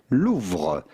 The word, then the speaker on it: Louvre: So how do you go about pronouncing this with the typical French pronunciation? Louvre. Le Musée du Louvre.